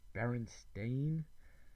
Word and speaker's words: Berenstain: make little jokes about most people clearly remember the sound steam or Stein both would be how Bernstein might be pronounced not Berenstain Tom smile that's a